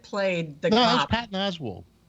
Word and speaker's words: Patton Oswalt: Patton Oswalt.